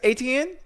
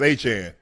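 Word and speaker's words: Achane: It's like Jackie Chan.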